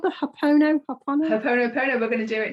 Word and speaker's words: Ho'oponopono: I can write it, but I can't spell it, can I? H-O apostrophe O-P-O-N-O P-O-N-O. Ho'oponopono.